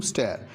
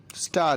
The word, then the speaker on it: stir: Farmers থ্রিটেন two resume স্টেয়ার। স্টেয়ার মানে এখানে আন্দোলন। ঠিক আছে, স্টার এর উচ্চারণ হবে আর আন্দোলন, STIR কিন্তু।